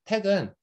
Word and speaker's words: TeX: 이걸 발음은 제가 최대한 그 노력해 보면 택 같이 발음을 하는 건데요. 이 X 발음은 한국어에 있어요. 한국어에 히읗 소리가 으 앞에 올 때, 흥정할 때 소리거든요.